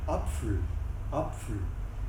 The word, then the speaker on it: Apfel: Alors que quand on va être vers l'Alsace, on va prononcer le PF, on va dire Apfel, comme en allemand d'ailleurs.